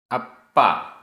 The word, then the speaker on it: अप्पा: बहुत महत्वपूर्ण गाथा गाथा क्रमांक 70 उच्चारण अप्पा अप्पा आधा प पूरा प अप्पा झताणम झायताणम दसण दसण